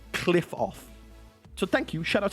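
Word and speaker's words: Qliphoth: It's not Qlipoth, it's actually Qlipoth.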